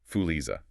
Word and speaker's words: Fuliza: It's pronounced roughly Fuliza.